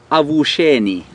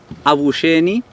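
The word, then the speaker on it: Avuxeni: In Shangaan is Avusheni. Avusheni. It's A-V-U-X, which is pronounced sh, E-N-I. A-V-U-X-E-N-I, Avusheni, meaning good morning.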